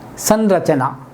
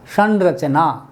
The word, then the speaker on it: संरचना: हमारे पास हमने जो शब्द लिखा था वो ये था, संरचना, तो हमने देखा कि र है, अब र के साथ इसका उच्चारण ण है, संरचना, संरचना।